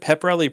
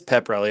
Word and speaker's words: pep rally: conversation and you said wait is it pepperelli pepper is that I it is pep rally I always assumed you